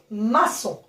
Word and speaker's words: maçon: Vous savez que O et N, ils se prononcent O. Donc, maçon.